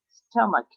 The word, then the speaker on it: stomach: stomach also see edge makes a k sound as in cake i don't be can you meet you should pronounce it stomach three in this word